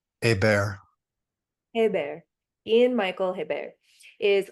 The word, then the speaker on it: Hébert: And is it, how do I pronounce her last name? Hébert.